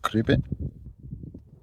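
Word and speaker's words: Cribyn: corn do corn d Caribbean is as it sounds it's got that Y in it but it's in the second syllable so it's a cribbon so there you go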